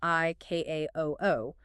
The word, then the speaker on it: ICAO: But you never say the individual letters. The manual explicitly mandates the pronunciation I K A O O.